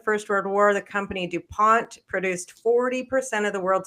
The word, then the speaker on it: Dupont: Yeah, Dupant is where we are. I don't even know how to pronounce that name. Just say Dupont.